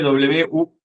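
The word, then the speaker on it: Wuhu: de la ciudad de Uu, que es donde estuvimos. Se escribe w u h u y es wu.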